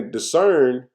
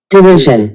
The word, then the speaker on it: derision: Thou makest us a reproach to our neighbors, a scorn and a discern. Let me make sure I'm pronouncing that correctly, man. Derision.